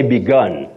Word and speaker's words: begun: then the past participle you now say begun gun the U takes the sound of what we call the M Central sound oh began past tense